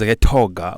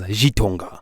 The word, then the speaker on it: Gitonga: day in Kwale, and they pronounce Gitonga as Gitonga. Gitonga. And you know, in Swahili we say G. When you start with G, it means GT likubwa, G2 likubwa. So I take that name